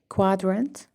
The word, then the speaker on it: quadrant: the letter Q Q but actually this you here after the cuteness doesn't sell doesn't sound has W query quadrant quibble quadrant query quibble